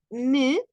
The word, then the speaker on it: mieux: una x al final se pronuncia me con la e cerrada es el comparativo de